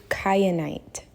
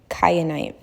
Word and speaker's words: kyanite: have guessed it but this stone is called Blue cenite it's spelled k y a n i te e cenite it comes in different